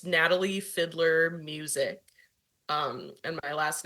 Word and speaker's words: Fideler: me it's all good it's it's Fiddler it's not it's not as hard as you think it might